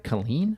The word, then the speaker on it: Killeen: Am I saying that right? Killeen? Yeah, you're saying it right.